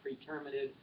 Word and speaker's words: pretermitted: pronounce word Fred omitted some people pronounce it praetor mitad it's an interesting word